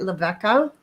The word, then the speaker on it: Lavaca: Lavaca jail? Yeah, it's Texan, so you gotta draw those A's out. Lavaca. Lavaca.